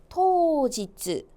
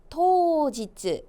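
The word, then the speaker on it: 当日: 당일 발음은요. 토지츠, 토지츠.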